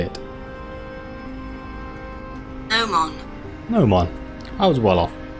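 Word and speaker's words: gnomon: Nomon.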